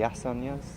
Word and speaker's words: asanas: So the question with the asanas, is it how do you pronounce?